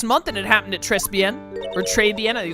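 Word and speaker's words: Trés Bien: This whole mess started on the third of last month and it happened at Trespen or Trebbian. I think it's Trebian. I don't pronounce the S. Treben.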